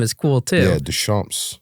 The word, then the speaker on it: Deschamps: is cool too yeah Des shamps Des shamps like French but it's it's spelled like thechamp kind of like it